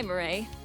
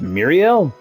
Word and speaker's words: Murray: Hi, Murray. Doing well? So it's Murray. Okay. I'm really thinking, if you look at it, it's pronounced Muriel. But okay. So now I know that is Murray.